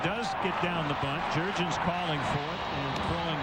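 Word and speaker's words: Jurrjens: Jair, and then Jurgens, just like it's spelled.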